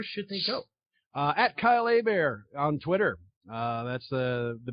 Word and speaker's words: Hebert: Kyle Hebert calm but it's pronounced a bear like a bear is attacking Leo DiCaprio but yeah you can